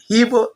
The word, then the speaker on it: Igbo: Hibou is how the French pronounce Igbo.